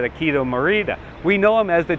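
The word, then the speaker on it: Akio Morita: uh trans transistor I I'm probably going to mispronounce his name but I think it's said aido Marita we know him as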